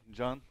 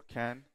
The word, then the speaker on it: Can: guests from foreign countries this is how you pronounce my name not or can or yan as some people make up so i will be